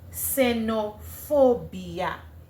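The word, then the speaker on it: xenofobia: In espanol, it would be senopobia. Ah, senop phobia.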